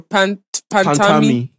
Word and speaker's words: Pantami: Pantami.